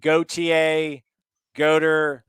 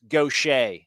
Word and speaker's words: Gautier: by the way if you folks are wondering the name of that school he goes to like go ta goater no no it's gaucher there you go pronounced gautier shout out mississippi stand